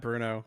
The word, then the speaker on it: Bruneaux: you yeah I'm Bruno nobody calls me except for Tanner everybody calls me Bruno that's my last name my last name is spelled wrong with the eax because it looks cool um I'm a musician